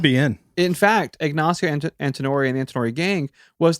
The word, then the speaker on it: Antinori: Cameron, could you pronounce that for me? Ignacio Cattori. Antinori.